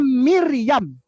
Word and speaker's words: Miryam: Oh ya ini dibacanya miryam di bacanya dari kanan ke kiri dari kanan ke kiri